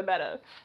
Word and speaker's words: betta: It's going to be a betta fish. The correct pronunciation is betta, not beta. Common misconception.